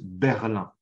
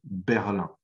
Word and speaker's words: Berlin: passage, mais la ville, on la prononce Berlin, la capitale allemande, Berlin.